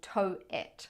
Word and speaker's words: Towit: here in Toronto called tow it yeah like how do you spell that t-o-w-i-t so toe it okay so the idea